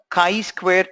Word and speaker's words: chi-square: let us understand chi-square test francis's pronounced as chi-square Chi Chi I math we letter CH is not choice square this chi-squared alright let